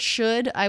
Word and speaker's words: should: The word should, I would say is, I would write that with a schwa, should I. The D is a flap sound because it comes between 2 vowels or diphthongs. The L is silent here.